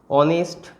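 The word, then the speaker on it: honest: যেমন অনার, তারপর সেরকম একইভাবে এই যে ওয়ার্ডগুলো অনেস্ট, অনারেবল, এই ধরনের যে ওয়ার্ডগুলো, এদের উচ্চারণ, এরা এইচ দিয়ে শুরু হলেও এদের উচ্চারণটা মেনলি কী দিয়ে আসছে, ভাওয়েল উচ্চারণ, ঠিক আছে।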